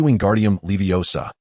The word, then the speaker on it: Wingardium Leviosa: Your pronunciation is inaccurate. It should be Wingardium Leviosa," with the M sound elongated and clear.